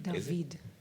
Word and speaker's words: Daveed: It's a very unusual name, Daveed. Can you tell us something about it? Well, in my case, it's Hebrew. It's a Hebrew pronunciation of David.